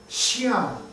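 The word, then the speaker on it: Xi'an: name of the town it's x i a n Shan everybody say sh sh that's how they pronounce it and on the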